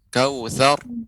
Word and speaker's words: Kautsar: Tapi yang perlu catatan hari ini yaitu huruf ra yang disukunkan maka dibaca dengan tebal, tidak boleh tipis. Jadi bukan kautsar, akan tapi kautsar, kautsar, ya.